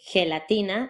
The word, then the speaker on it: gelatina: down in your throat, then you get what looks like a lowercase x. As in gelatina and girasol.